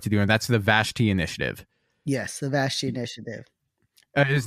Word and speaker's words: Vashti: as well and so queen bashti or vastai as it sometimes pronounced but Queen vashti was the queen of